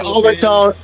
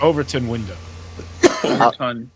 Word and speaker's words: Overton window: I think that's how you say overtone window. Overton window. How do you How do How do you pronounce it? Uh Overton Window. Overton. Overton window.